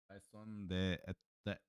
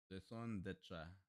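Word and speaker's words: raison d'être: Raison de etre. You didn't pronounce it properly. Raison d'etre.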